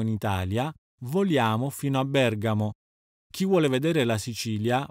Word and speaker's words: Bergamo: telefonico accademico logico vengono anche accentati sulla terzultima sillaba inoltre vale la pena ricordare che quando andiamo in italia vogliamo fino a bergamo chi vuole vedere la sicilia va a trapani